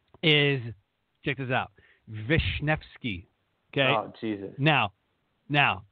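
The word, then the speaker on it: Wiśniewski: n I WS ki there's not even a V or an F or nothing but that's how you pronounce it so everybody goes with new ski she's like Vishnevsky like wow yeah yeah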